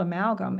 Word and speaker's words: amalgam: it g m oh and I said gam but it we really say gum but um I like to think of it as gam because it helps me remember how to spell it but speaking of that